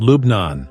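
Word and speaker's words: لبنان: Arabic Lebanon is called lubnan which is the pronunciation in Lebanese Arabic officially known as the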